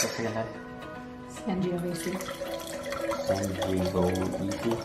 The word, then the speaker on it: Sangiovese: How do you pronounce this again, Dad? Sangiovese.